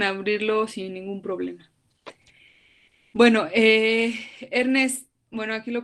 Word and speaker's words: Ernst Cassirer: Bueno, Ernest, bueno, aquí lo pronuncia el compañero, él es el compañero que vieron ahorita, creo que es español, y él lo pronuncia como Ernst Cassirer, ¿no?